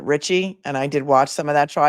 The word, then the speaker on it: Ricci: I want to always say Christina Ricci because the actress is named Christina Ricci, but that defendant pronounces it Richie.